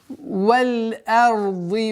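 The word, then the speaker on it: وَالأَرْضِ: Вот одна из самых распространенных ошибок – это твердое произношение звука хамзы. Получается валь-арди, ард, что является недопустимым, потому что хамза с огласовкой фатха всегда произносится р. Да, ра твердые, но твердость ра не должна влиять на мягкое произношение хамзы.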